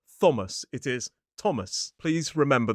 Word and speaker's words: Thomas: Well, sometimes in certain names, like places or people, that th is simply pronounced as a sound, the same sound we see in a word like talk. So, for example, in the river Thames, the country Thailand, or the name Thomas.